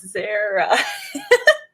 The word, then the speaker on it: Zara: day right right it's it's like sarah but with a z correct me if i'm wrong but it's zara i still feel so